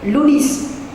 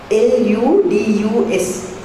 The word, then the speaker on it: ludus: Then third word is called ludus. L-U-D-U-S, but you pronounce it as ludus.